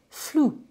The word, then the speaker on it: flew: Voyager en avion ou voler pour un oiseau, donc c'est to fly, et ça va donner flew. Et là, vous constatez que vous avez un EW qui se prononce OU.